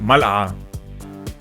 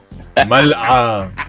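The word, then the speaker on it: ملعقة: ملعة. Okay. ملعة. Mal and then the مل. It's the Hamza and then the عين.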